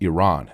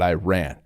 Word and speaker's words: Iran: like first of all our country is pronounced Iran not Iran please get that like let's